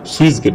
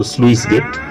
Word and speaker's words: স্লুইস: অনেকে আমরা উচ্চারণ সুইস গেট বলি। তো এটা মূলত স্লুইস গেট।